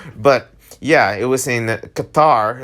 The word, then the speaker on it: Qatar: Okay, that's how you say it, Qatar.